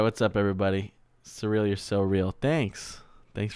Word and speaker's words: Suriel: See if we can pronounce it right. Surreal. Surreal, yeah. So that is a surreal name.